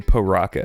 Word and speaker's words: Piraka: Pyraka. In the song, they say paraca. They do say paraca in the song.